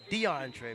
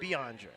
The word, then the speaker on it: Beyondre: Not DeAndre, but Beyondre.